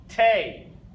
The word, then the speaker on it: T: Tay.